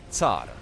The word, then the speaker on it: Tsar: how it's pronounced, but whenever I speak English, I just try to pronounce it the English way, instead of just using the Polish or the Russian pronunciation, and calling it Tsar, which is the proper way.